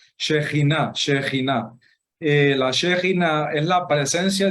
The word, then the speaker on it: Shekinah: La Shekinah, sí, yo sé que muchos pronuncian Shekinah, no, se pronuncia, disculpen ustedes que no pronuncio muy bien ahorita, Shekinah.